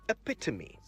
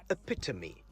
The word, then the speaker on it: epitome: to focus on today epitome e-p-i-t-o-m-e epitome not epitome the e at the end is not silent so make sure all four syllables of the word are heard loud and clear to me it means